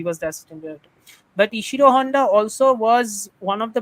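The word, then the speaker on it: Ishirō Honda: this up ishir Honda you say his name is ishiro Honda so ishiro Honda was the assistant it sounds a little bit like isiro Honda so anyway doesn't matter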